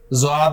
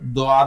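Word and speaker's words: ضاد: कोई इसे ज़ुआद बोलता है, कोई इसे दुआद बोलता है। इसकी प्रोनाउंसिएशन बड़ी दरमियानी सी है, बहुत मुश्किल है कि जुबान के जो दो सिरे हैं ना आखिरी, वो जाके दाढ़ों के पीछे जाके लगते हैं तो ये लेटर निकलता है।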